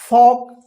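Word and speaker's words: folk: तो यहां पे भी क्या है, देखिए एफ से पहले एल आया है तो एल साइलेंट, के से पहले एल है तो क्या होगा एल साइलेंट, फॉक, फॉक का मतलब जन समूह।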